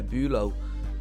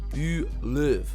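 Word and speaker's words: Bülow: Uh, one player that left because we were struggling with finances a little bit was Kai Bulo, uh, or Bulov, sorry, Bulv, sorry, get my German pronunciation right.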